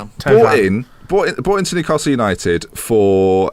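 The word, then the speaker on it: Thauvin: Tovan.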